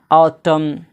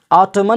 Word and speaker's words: autumn: जैसे ऑटम, ऑटमन नहीं पढ़ा जाता है, ऑटम, यानी AUTUMN, यहाँ पे एम के बाद एन आया है तो क्या हो जाएगा, एन साइलेंट हो जाएगा।